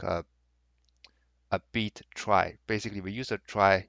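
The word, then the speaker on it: trie: we'll build a prefix try here sorry a prefix tree yeah so the prefix tree call also called a try so the pronunciation is a little bit weird so probably I'll just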